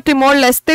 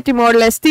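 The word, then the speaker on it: Timor-Leste: आए थे ठीक है तो इसको टमोर लस्ते भी बोलते हैं टमोर लेस्टी भी बोलते हैं आपका जो भी आप प्रोनाउंस करें तो टमोर के प्रेसिडेंट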